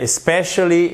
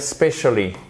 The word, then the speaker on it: especially: Au lieu de dire especially, ils vont dire specially. Parce qu'en fait, ils entendent presque plus le pauvre E qui est réduit à la portion congrue au niveau de la prononciation, c'est-à-dire un simple et un i court rikiki.